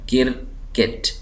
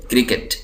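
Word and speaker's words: cricket: बल्ला होता है तो उसको हम यहां पर क्रिकेट बोलते हैं ककेट ककेट लेकिन असल लफ्ज यह है क्रिकेट क्रिकेट क्रिकेट लेकिन हमारे यहां चूंकि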